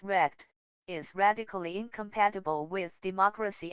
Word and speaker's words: RECD: Liu, you write, "Really existing capitalist democracy, RECD for short, pronounced rect, is radically incompatible with